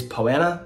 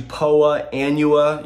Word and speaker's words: Poa annua: The scientific pronunciation of Poana is actually Poa annua. You may hear it pronounced that way sometimes, but you also may hear some people just refer to it as Po.